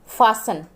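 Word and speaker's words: fasten: फासन, T silent रहेगा।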